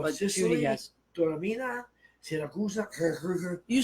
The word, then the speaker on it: Siracusa: Taormina, Siracusa, You said it right, Yeah, Saragossa.